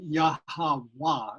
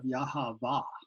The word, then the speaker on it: Yahweh: So the pronunciation of Vav is a later European kind of thing. So the original pronunciation of that letter was more of a W type sound, which is why when